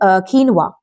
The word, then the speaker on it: quinoa: So it is quinoa.